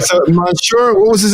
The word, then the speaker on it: Monsieur: it was purchased by Monsignor Henry Lee Marlin, who we just talked about earlier, who basically built the boatwright shop. That's not Monsignor, that's Monsieur.